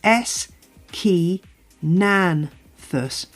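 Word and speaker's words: Aeschynanthus: how on Earth well just break it down it's s Ki Nan thus with the emphasis on the Nan that's my best attempt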